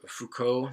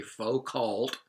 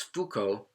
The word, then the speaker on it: Foucault: word deconstruction so you should have already done Fuko that's how you pronounce his name michel foucault don't say pho called he's Foucault and Jacques Derrida yes they're both French I'm